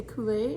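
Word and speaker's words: Culet: cashmere yarn and uh I don't know what else to say Kool-Aid it's from baroco and it's spelled weird c-u-l-e-t um yeah yeah so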